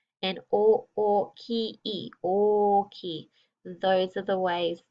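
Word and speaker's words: おおきい: They do stay the same when we say chisai and oki. That's how we pronounce the words.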